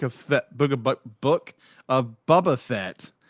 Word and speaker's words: Boba Fett: book but book of boba fett is gonna be shorter bubba fat i said it wrong i've always called redneck